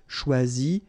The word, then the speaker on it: choisis: Same rule, you don't pronounce them. So phonetically, you will have choisi, choisi, choisi, choisi, choisi, choisi, choisi, and choisi. So the same phonetical form, okay?